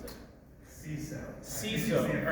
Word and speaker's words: CISO: Mike, how do you pronounce it? CISO.